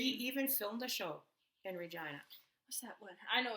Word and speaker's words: Regina: shout out to like the city that rhymes with f right we all know that's Regina actually Regina had this campaign